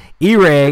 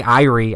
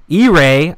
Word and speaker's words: E-Ray: And, I'm never going to say her name right. E-Ray, because I always want to say Irie. I don't know why. E-Ray, roll some performance.